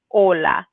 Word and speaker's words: hola: say hola we say or we just say hola so it's whenever you see an aceh in